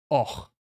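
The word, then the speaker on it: Avoch: Och, but you spell it like that. Abach, but you say och.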